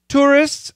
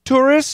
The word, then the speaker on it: tourists: staggering very good word tourists now his pronunciation STS that t is gone tourists and residents this tea